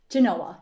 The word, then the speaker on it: Genoa: joined by christine danhoff uh from is it pronounced uh genoa area schools yeah noah genoa yup okay i think if i wasn't gonna